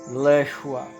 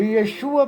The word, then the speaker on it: Yeshua: Pronúncia em português, Leshua. Alterou-se o nome do Salvador, de Yeshua para Jesus, para que houvesse o rompimento de todos os seus traços judaicos.